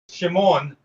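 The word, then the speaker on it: שמעון: So how do you actually write Simon? Yeah. Shimon or Simon. Shimon.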